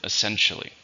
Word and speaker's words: essentially: something it's an adverb how many syllables are in essentially there are four the stress in a second essentially they're essentially dating they